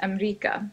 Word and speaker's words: أمريكا: America in Arabic is Amrika. So Anna min Amrika. Amrika.